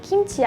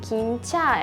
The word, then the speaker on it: 김치: 보통 사람들이 약간 좀 러시아어 스타일로 김치 아니고 약간 좀 김차 약간 좀 러시아어스럽게 아마